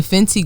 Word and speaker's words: Fenty: You said said Fenty. Fenty. That's what that is. Fenty gloss. Okay. Robin Fenty. It rhymes with- the bad gal.